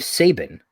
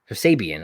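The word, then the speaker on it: Kip Sabian: here at the bottom uh miro and kip sabin sabian i don't know why i said his name wrong versus orange cassidy and chuck taylor thoughts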